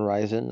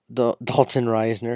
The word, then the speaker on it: Risner: I call him Dalton Risen. I think Risen sounds better, but Dalton Risner.